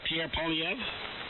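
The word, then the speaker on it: Pierre Poilievre: Oh, Pierre Polyev?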